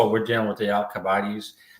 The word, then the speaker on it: Alcibiades: we're dealing with the Alcibiades. Right, that's how you pronounce it.